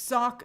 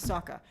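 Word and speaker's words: Sokka: right Katie lady says it's sock Saka Saka okay thank you I always mispronounce Saka it was the whole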